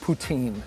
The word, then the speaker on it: poutine: Poutine. Well, I mean. Wait, I'm not saying it right. How poutine. Do you? Poutine. La poutine. So it's not poutine.